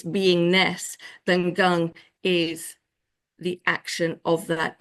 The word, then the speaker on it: gong: says that it's gong well it's but it's pronounced Gung so Chiang um so gung is the action